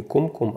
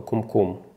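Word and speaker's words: קומקום: это й это чай радиослушатель допустил ошибку и Неправильно произнес слово кум-кум на что знаток иврита сразу его исправил комм это ударение когда ударение ставится на последний слог то это называется на иврите то есть правильно говорить Не кум-кум а кум-кум полезть в интернет и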